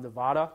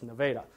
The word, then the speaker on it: Nevada: Well, many of you know how to pronounce that word, but it took me 2 years to figure out it's not Nevada, it's Nevada in Iowa.